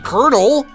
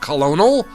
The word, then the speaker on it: colonel: Colonel, not Colonal. That would be a ridiculous way to pronounce that word. It's Colonel. Colonel Squeakums.